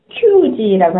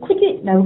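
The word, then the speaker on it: 九時: 9시라는 단어는 큐지라고 하지 않고 쿠지라고 발음한다만 기억해 두시면 뭐 문제 없을 것 같습니다.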